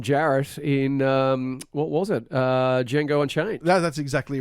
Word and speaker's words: Django: the trailer he says the D is silent he said did Django